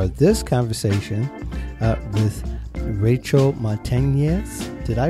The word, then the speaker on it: Montanez: be a part of this conversation with Rachel Montanez. Did I pronounce that correctly? Montanez, yes.